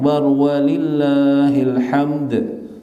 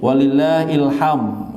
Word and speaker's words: walillahil hamd: Jadi lillahil hamd, ada qalqalahnya kalau kita baca. Kesalahan orang-orang biasanya bacanya walillahil hamd. Nah, ini mengubah makna secara jauh. Jadi artinya, dan bagi Allah memiliki ilham. Maknanya ini kesalahan fatal. Tapi yang benar walillahil hamd.